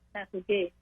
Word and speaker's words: Châteauguay: And when I was growing up in my little town of Châteauguay, it's actually pronounced Châteauguay, we used to have these fields that I would look out onto.